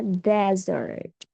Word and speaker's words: desert: Ya, yang ini S-nya dua, dibacanya dessert. Dessert artinya makanan penutup. Kalau S-nya cuma satu, dibacanya desert. Desert. Desert artinya padang pasir.